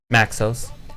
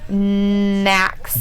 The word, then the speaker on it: Naxos: You have to say his name like a couple times to people because they think it's Max. Maxos. But it's not. It's Naxos. Brett still calls him Nexus.